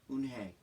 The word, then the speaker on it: Eunhye: Yes, it's pronounced Eunhye. And it means grace, Mr. Kim added. Eunhye, Joey said slowly, and this time perfectly.